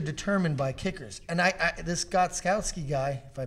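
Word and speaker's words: Gostkowski: And this Gotskowski guy, if I pronounce that properly, Steven he's money. Gostowski.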